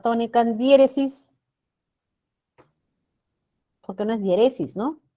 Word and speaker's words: diéresis: Ahí la sílaba tónica es die, esta de acá. Y se coloca tilde por ser esdrújula.